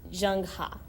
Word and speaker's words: Zheng He: the Chinese Empire called Zheng He. And some people pronounce it Zheng Ha.